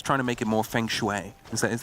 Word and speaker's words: feng shui: Yeah, feng shui. Yeah. I was going to say, you don't know what that is? Well, no, you didn't say it wrong, and you just didn't hear it right.